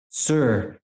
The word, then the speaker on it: Tyre: Sir means Lord, but at rock. The capital Phoenicia, spelled Tyre, it's pronounced Sir, and it means rock.